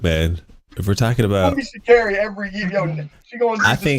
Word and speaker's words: Sha'Carri: Oh, it's Sha'Carri. It rhymes with Barry.